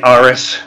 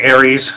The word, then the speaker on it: Ares: Well, you know, we go places, and you know, you say Aris, we say Aries, so it's all good in the hood.